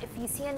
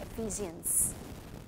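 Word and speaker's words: Ephesians: Okay, अब यहाँ इफिसियन नहीं कह रही, इफिसियन नहीं है, इसकी प्रोनाउंसिएशन एफिजियंस, एफिजियन.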